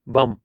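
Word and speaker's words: bomb: बम, तो बी यहाँ पे साइलेंट रहता है।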